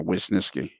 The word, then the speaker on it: Wisniewski: for a long time I was pronouncing it as if it was w-e-s and it's not it's w-i-s which of course is whis and then Ness and then key what is this key yeah um first